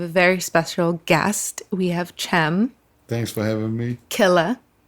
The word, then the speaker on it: Cem: And it's pronounced Cem. Yes, the C in Turkish is pronounced like a G.